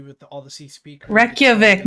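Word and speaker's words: Reykjavík: all the sea speakers reykjavik not retrovic it's wretched it's reykjavik okay whatever i'm not going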